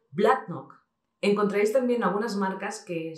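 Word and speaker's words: Bladnoch: Tenemos una excepción, por ejemplo, el caso de Blacknock, que es un whisky de las Lowlands. Muchos diréis Blacknock porque estamos acostumbrados, pero realmente se pronuncia Blacknock.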